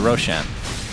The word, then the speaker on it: Roshan: that Roxanne that's right Roshan is actually a word in Farsi which is why I pronounce it Roshan and it means bright which is ironic because